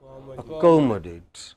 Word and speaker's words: accommodate: have words like this ending in a t e they always take stress or two syllables before ate so what will be